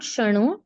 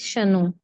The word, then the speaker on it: महाशनो: It's not shano, it's shano. Okay, it's not the nasal sound.